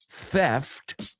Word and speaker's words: theft: video game is Grand Theft. No, sacando la lengua, theft, Grand Theft Auto 3. No, hay que sacar la lengua mucho.